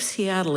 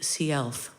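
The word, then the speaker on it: Si'ahl: I just recently learned, in fact, just this morning learned that Chief Seattle is the anglicized um uh pronunciation. And out in Seattle, you would know him as Chief Seelf.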